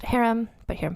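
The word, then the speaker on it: harem: nobody's business also note I'm choosing to pronounce this word as best I can as to how it's pronounced in Turkish Haram so not to be confused with the name of this week's featured person huram and I did do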